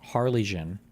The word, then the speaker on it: Harlingen: They obviously and clearly did, but it's pronounced Harlingen.